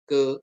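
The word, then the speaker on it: καί: Jadi dan sering ada dan kalau dalam bahasa Yunani itu ditulis ke ke kai tulisannya kai ya bacanya ke ke gitu ya.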